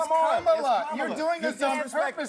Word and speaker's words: Kamala: Let me actually pronounce her name right. Kamala Harris. Kamala. You said this we don't call you Nancy Mace. It's Kamala.